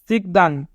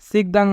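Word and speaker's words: 식당: সিকদাং, সিকদাং মানে রেস্টুরেন্ট। সিউত প্রথমে থাকলে দন্ত স, ই রাসি সি, গিউক নিচে থাকলে ক, সিক। দিউত মাঝে থাকলে দ, আ, ইয়ং নিচে থাকলে অনেক সার সিকদাং, সিকদাং মানে রেস্টুরেন্ট।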